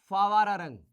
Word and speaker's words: Phawararang: फिर आएगी ये आपकी फावारारंग, ठीक है, इसमें आएगा आपका PHAWARARANG, ठीक है, ये स्पेलिंग है इसके फावरंग।